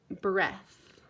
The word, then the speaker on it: breath: Now let's try breath. Breath. Breath is spelled breh. The EA says eh.